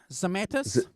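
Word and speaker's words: Zemaitis: Andrew also said that Ronnie bought in that Zemetis. Is that how you pronounce it? Zemetis?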